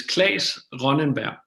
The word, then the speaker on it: Claes Ronnenberg: I want you to pronounce your name because you live in Europe and I know I butchered it. So you introduce yourself. My name is Claes Ronnenberg.